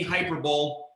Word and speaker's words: hyperbole: For those of us who put the wrong emphasis on the wrong syllable, there will not be any hyperbole. I'm going to tell you guys, I'm going to shoot straight.